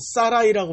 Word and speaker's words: 사라이: 원래 사레라고 할 때는 사라이라고 발음합니다. 사라이.